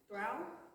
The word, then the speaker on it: through: Through? T-H-R-O-U-G-H is pronounced through.